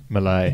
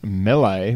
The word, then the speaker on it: melee: pronounce that word and the internet says melee malai me lay Milan Italy yeah I've heard as melee and my life but melee which apparently is the right one I don't actually hear